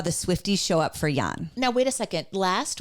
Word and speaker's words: Jan: If you say Jan, you can, but it's pronounced Jan.